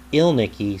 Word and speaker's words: Ilnicki: This is Andrew Ilnicki, and Ilnicki sounds like Elvis, and Ilnicki is how it is supposed to be pronounced according to his Facebook page.